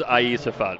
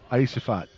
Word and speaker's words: Aisafat: I believe the pronunciation is Aisafat, Michael. Aisafat.